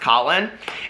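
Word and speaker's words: Kahlen: his name is Colin, it's K-A-H-L-E-N, I think it's pronounced Colin, and he came out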